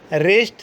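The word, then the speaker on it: wrist: डब्ल्यू is silent before are. अगर आर से पहले डब्ल्यू आ रहा है तो डब्ल्यू क्या हो जाएगा? साइलेंट हो जाएगा। देखते हैं। Regal, राइटिंग, wrinkle, रिस्ट, rack, रैन, रेसलर, रैंच, रिंग।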